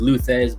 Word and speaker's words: Thesz: But in the first 6 issues, it's contained to Thesz, and that's pronounced like Thesz because I wanted to, you know, base it off of somebody awesome.